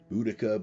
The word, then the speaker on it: Boudica: you so you can look it up b-o-u-d-i-c-a budika would say uh uh there are a number of different spellings and pronunciations all of which are acceptable for the